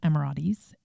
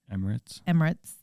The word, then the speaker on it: Emirates: From the US, they flew them business class Emiratis. How do you say that? Emirates.